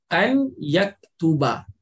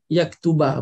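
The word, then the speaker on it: أن يكتبَ: Bila ada haraf nasab, maka bertukar kepada baris fathah. Tengok. Yaktubu jadi apa? An yaktuba. An tu haraf nasab tu lah. An tu haraf nasab. Yaktuba. Bacanya yaktuba. Taktubu bacanya an yaktuba.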